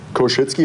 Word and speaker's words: Koschuetzki: Well, Koshitzky. It's actually not that bad to pronounce.